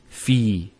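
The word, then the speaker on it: في: So the first word is fi. So you notice there's the elongation, the long vowel.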